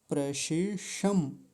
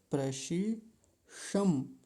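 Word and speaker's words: प्रशिषम्: तो थोड़ा इसको ध्यान से बोलेंगे, मैं बता देता हूँ। प्रशिषम। प्रशिषम। देखिए ध्यान से, शम शम ऐसा बोलेंगे, प्रशिषम।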